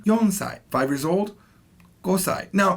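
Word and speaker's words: 四歳: now four years old can never be shisai has to be yonsai five years old gosai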